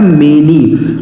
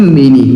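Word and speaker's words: many: दोस्तों इसे पढ़ा जाता है मेनी। एम ए एन वाई इसे पढ़ते हैं मेनी।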